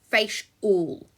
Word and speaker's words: facial: So f, a, sh, u, l, facial.